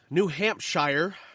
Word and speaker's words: New Hampshire: this week we have New Hampshire New Hampshire no you said it right the first time and New Jersey New